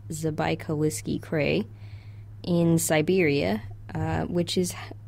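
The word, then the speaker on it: Забайкальский: It was discovered in what we think is pronounced Zabaikalsky, Krai, in Siberia, which is how it got its species name, Zabaikalicus.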